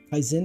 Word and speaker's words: Kaisen: Kaizen is the pronunciation.